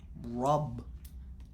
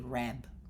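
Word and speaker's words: رب: Because I will say, if I write a, I will say rab. And I think that rub is closer to how you say it in Arabic than putting an a there.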